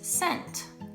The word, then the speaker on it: cent: Hard C sounds like k, k, but soft C sounds like s. It's the same as the sound that an S makes.